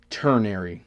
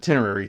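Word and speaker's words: ternary: Turnary, not tinary, turnary.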